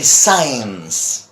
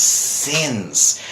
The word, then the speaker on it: since: trouble with this because they say signs signs they get for and signs and I keep telling them it's sins it's not science but sins okay so that one